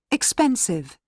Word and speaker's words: expensive: easy AC okay AC let's hear the next one seven empty empty M2 expensive expensive remember that we have a the syllables stress right here expensive 13.